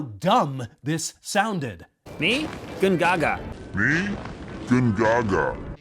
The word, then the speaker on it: Gongaga: I've been pronouncing Gongaga incorrectly, well, since the beginning.